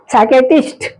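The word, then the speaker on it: psychiatrist: में P silent है साइकेट्रिस्ट इसमें भी देख रहे हैं कि पी साइलेंट है रिसीप्ट रिसीप्ट में भी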